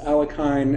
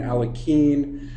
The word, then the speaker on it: Alekhine: we anglicize it and people say I've heard it pronounced alakine, alaken uh alakin, aloken. There's there's a ton of different ways to pronounce it, but the way uh Alen preferred preferred it is just that way.